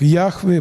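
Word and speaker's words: Яхве: два священных имени создателя 4 буквенное не произносимое имя господь это имя произносится как йахве бог мой и лодка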